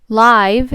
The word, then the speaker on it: live: silent final E rule live uses silent final E rule number one and rule number one says that the silent e jumps over the consonant to make the vowel say its name so I'm gonna take